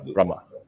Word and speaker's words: Brahma: Brahma.